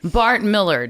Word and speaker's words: Millard: But technically, it's Millard. Bart Millard. Yeah, cuz it looks like Mard and it kind of rhymes with Bart, so people kind of go there. But you don't shop at Dillards. You don't play You're right. You don't play billiards or it's not a malard duck.